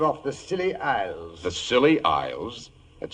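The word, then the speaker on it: Scilly: New Year's Eve off the silly Isles the silly Isles that sounds appropriate doctor the name of these particular islands is spelled s c i l l y they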